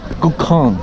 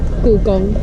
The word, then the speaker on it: Gugong: Gukong. Gugong. Let me say it right. Yeah. Wait, let me say it. Gukong. Gukong. Gugong. Gukong. Not Kong. The Gong. Gong. Yeah. Gugong.